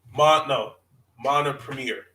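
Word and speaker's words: Mompremier: Mona Premier. That's how you say Beatrice Mona Premier. That's how you say her name.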